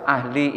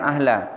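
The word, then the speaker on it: أهلِ: dan dia sebagai mudof ahli itu mudhaofun ilaih makanya bacanya ahli bukan ahla Allahumma adzib kufar ahlil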